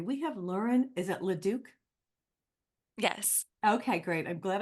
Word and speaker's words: Leduc: Is it Leduc? Yes. Okay, great. I'm glad I pronounced your name properly.